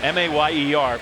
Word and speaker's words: Mayer: spells his last name, M-A-Y-E-R, people ask, how do you say that? You say it Mayer, like Mayor. And so the way I remember it, he's the mayor of tight end town.